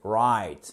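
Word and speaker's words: write: bout de la bouche right non c'est pas right c'est right oup plus a g le W ici ne se prononce pas peuttre souvenez d'ailles cette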